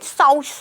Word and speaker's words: sous: अब देखिए इंग्लिश में जो स्पेलिंग है वो SOUS है, बट हिंदी में इसको शुश बोलते हैं, एग्जैक्ट प्रोनाउंसिएशन साउस होता है।